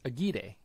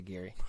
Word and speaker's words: Aguirre: hold on hold on I've actually seen that name not pronounced as a choir I think I've announced three guys with that last name and I know one really yeah yeah one of them uh he told me that it's pronounced aguide oh wow wow and this guy at apfc was like we don't say it like any kind of like ethnic way it's just like Gary just say Gary I guess I'm used